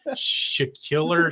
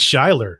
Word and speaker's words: Schuyler: Is this Schiller? You know, it's Schuyler.